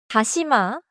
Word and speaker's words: 다시마: 다시마 has three syllables. 다시 마.